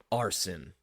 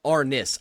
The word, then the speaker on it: Arness: you heard of um arson spell that out for me arson a r s i hold on no no no Arness I apologize pronounced I did that way wrong like I have dyslexia